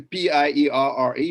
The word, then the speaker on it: Pierre: pierre right and so what would it say p-i-e-r-r-e what do you make of that pierre i've